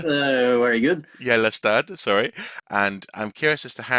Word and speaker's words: Gjellestad: Now I want to try and pronounce this correctly. Gjellestad. Very good. Gjellestad, sorry.